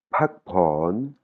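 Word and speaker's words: พักผ่อน: Pakpon. Pakpon. Voilà, et si vous écoutez bien, vous entendrez, il y a de l'air qui sort de ma bouche après le P, hein.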